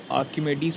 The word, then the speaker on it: Archimedes: एक आर्किमेडीज़ प्रिंसिपल बचा था। इसमें एच साइलेंट रहता है, आर्किमेडीज़ प्रिंसिपल कहते हैं इसको, ठीक है।